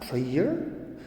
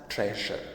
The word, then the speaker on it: treasure: Most people mispronounce the word. They call it treasure. It's not treasure. It is pronounced as treasure. Right? It is treasure. And it is not pleasure. It is pleasure. So pleasure and treasure. And the sound is j, which is a voice sound, voice palatal sound.